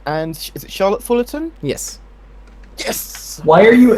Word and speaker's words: Charlotte Fullerton: Is that the correct pronunciation? And is it Charlotte Fullerton?